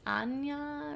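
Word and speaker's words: Áine: Anya that it's like spelled Dane a-i-n-e and then it's pronounced like an Anya or something I don't know it's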